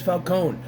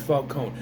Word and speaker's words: Falcone: forgot say what it's Falone it's always Falone you don't you don't pronounce the e yes so Batman is